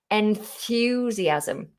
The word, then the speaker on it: enthusiasm: Enthusiasm. So I recommend, to make it easy, more natural, just go towards the TH straight away. Enthusiasm. Notice the S is pronounced like a Z.